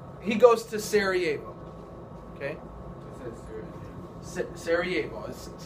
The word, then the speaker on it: Sarajevo: the king is he goes to Sarajevo okay sarajebos that's how it's pronounced so Franz Ferdinand goes there June 8 28th excuse me 1914.